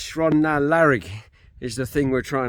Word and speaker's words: Sron na Lairig: it a definite Beast I got told off it's shrond now larig is the thing we're